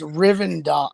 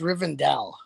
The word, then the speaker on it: Rivendell: It's Riendell. It's Rivendell.